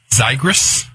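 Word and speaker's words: Xigris: treatment of sepsis and correct correct if I mispronounce it correct me tygris that's right yeah so what's the story behind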